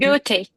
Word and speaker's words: Goethe: I forgot how to pronounce this one. Goethe Institute. Goethe. Goethe Institute.